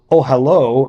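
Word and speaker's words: אהלה: means uh tent so ohalo means his tent which is pronounced consistent with its usual spelling as if the last letter were the letter VAV in Hebrew the masculine possessive suffix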